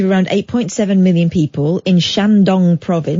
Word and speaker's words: Shandong: 8.7 million people in Shandong Province well don't say it like that you emphasize the word dong I know exactly what